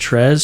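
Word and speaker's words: Tryezz: of weeks so yeah check them out t-r-y-e-z-z pronounced tres tres on the track tres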